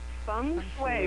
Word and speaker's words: feng shui: And how do you pronounce that again? It's feng shui, but it's actually spelled F-E-N-G.